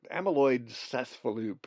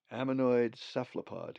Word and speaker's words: ammonoid cephalopod: really weird sea creature i i can hardly even pronounce the name amyloid amyloid cespaloop or something like that ammonoid cephalopod kootenai i've told you a